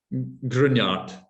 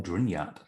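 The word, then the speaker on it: Gruinart: Most Isla words are pretty much as they sound, but Grignard is a hard one. Grignard.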